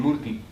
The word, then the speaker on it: Murti: Because every murti, because this word Moorat in Punjabi is written as, but in Gurmukhi is written Murti. It's Murti. But you don't pronounce the Sehari too much.